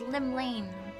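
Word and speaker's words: Llymlaen: Lim Lane I said it right it was Lim Lane what Rome shaking Fate has she described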